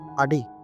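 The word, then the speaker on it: adik: ছোট ভাই আডি লেলাকি এইযে এখানে দেখেন লাস্টে কে ওইটার উচ্চারণ আমরা করব না আমরা বলব আডি লেলাকি এইযে লেলাকির এখানে কে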